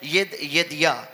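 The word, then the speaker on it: Jedidiah: ये नाम था यदिया, इसका नाम है। इसकी जो प्रोनाउंसिएशन है वो है यदिया।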